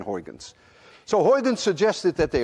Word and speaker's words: Huygens: Even Peter, you cannot say Huygens. Try it. Well, Peter, you're a friend of mine, so I won't say much more then. Huygens, but in the lecture hall in the United States, you call the poor man Huygens.